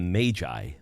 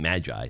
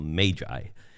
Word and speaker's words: Magi: I say their name I call them the Magi because that's probably how it was correctly pronounced rather than Magi so just think of the ma a the a there is being a long a rather than a short a so Magi now they